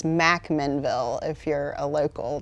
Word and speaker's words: McMinnville: And you pronounced it correct. It's McMinnville if you're a local, not McMinnville.